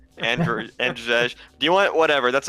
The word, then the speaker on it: Andrzej: It's Andrzej. Andrzej.